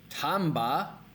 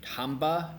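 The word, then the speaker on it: tambah: is very very important with two of the words that we just learned with Tamba and tanpa they sound very similar and a lot of Indonesians will pronounce them especially if you're asking for copi somebody might like oh Pak cop so it's really really important to get the pronunciation down between Tamba and Tampa especially when you're listening so I'll do my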